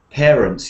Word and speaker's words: parents: Parents, yes, it's like a chair sound.